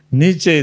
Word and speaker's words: Nietzsche: Iya kan Niet misalnya atau Niets Nietse bacanya itu ya ada yang alumni Jerman di sini Nietzsche itu ah dia berkesimpulan bahwa Tuhan itu tidak ada.